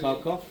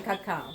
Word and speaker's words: cacao: Is it cocoa or cacao or cocoa in German? Cacao. Cacao. Yeah. But cacao it is the correct way of pronouncing it. But in English we used to say coco.